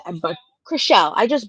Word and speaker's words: Chrishell: I know I just said, Chrishell, but Chrishell. I just butchered it again. because She, of Trishelle. It's Chrishell, confusing.